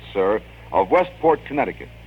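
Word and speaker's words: Cyr: sent in by maurice sir and i'm going to spell that because i don't want to mispronounce anyone's name but c-y-r i believe it's pronounced sir of westport connecticut it's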